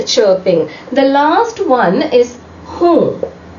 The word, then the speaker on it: हूँ: playing birds are chirping the last one is whom pronounced like this which means am when do you